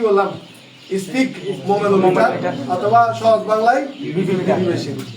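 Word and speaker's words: sphygmomanometer: Speak দন্ত শয়ে ফ গ স্পিক মোমেনো মিটার। ভেঙে পড়লে পড়া যাবে, এমনি উচ্চারণ করতে গেলে কঠিন লাগবে।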